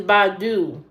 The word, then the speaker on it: Badoo: Okay, the next one is Badu, and that is spelled Badoo. Badoo.